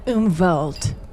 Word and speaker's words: Umwelt: that cool I think so yeah yeah you umelt yeah I was I was wondering it's spelled um uh but it's pronounced umelt um it's actually a really cool word meaning